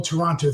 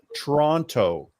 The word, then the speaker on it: Toronto: extra syllable so it's Toronto or or Toronto that's it Toronto but that are you sure you Canadians are saying the name of your city right that last T does not get pronounced just just listen whatever